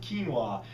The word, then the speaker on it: quinoa: quinoa is what it looks like but it's pronounced quinoa otherwise no grains at all so this is